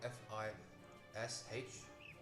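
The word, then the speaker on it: Fisch: And by the way, fish isn't spelled F-I-S-H. It's spelled F-I-S-C-H. Fish, it's German.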